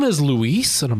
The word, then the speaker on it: Luis: it's spelled Luis, and it's pronounced Luis. It's pronounced like Louise, but instead of the Z sound at the end, it's an S sound. In English, it's less emphasized. The U is a lot less emphasized. It's almost like just saying Lis, like just Lise.